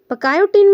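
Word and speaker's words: pachytene: diplotene and डायो kinesis पकाइन में सी silent है सी मीस क्रॉसिंग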